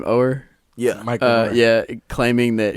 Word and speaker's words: Oher: Oher?